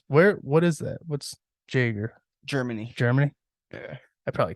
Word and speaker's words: Jaeger: like it's just normal all my family just wanted the J to be pronounced so they sounded more American when they came over